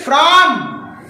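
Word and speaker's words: from: फिर फ्रॉम, एफ से फ और एफ और आर साथ में फ्रॉम और ओ का अ फ्रॉम और एम का म फ्रॉम, ऐसे पढ़ोगे आप।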